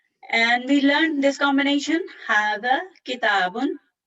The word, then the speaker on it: هذا: Hada is pronounced hada, but it is written without the first alif.